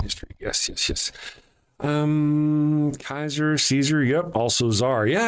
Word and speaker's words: Caesar: Julius Caesar probably would have called himself Kaiser with a hard C.